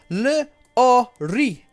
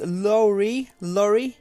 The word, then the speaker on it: Lori: And then we've got Lorry, and this should be pronounced. It's been phonetically spelled out to me. I still think I'm going to get it wrong. Le-o-ri. So I'm thinking that is Lorry. I think is how it's supposed to be said, that one. So we've got Annie, Lori, and Vaspurakan.